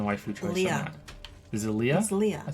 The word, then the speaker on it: Leah: choice yeah this is Leah I thought it was Leia no it's Leah l-e-a-h is Leah you're thinking Leia like l-e-i-a I think you're gonna